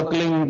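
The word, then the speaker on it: क्लीं: की मात्रा और बिंदी उसका उच्चारण होगा क्लिंग प आप अंग बोलो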